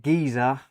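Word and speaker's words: Gizeh: So, this includes the Darren Tate Gz Gizer. It's spelled G I Z E H.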